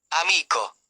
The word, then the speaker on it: amico: Most Italian words have stress on the second-to-last syllable. Examples: tavolo, t i a v o l o, table amico, a m i c o, friend Due, antepenultimate stress.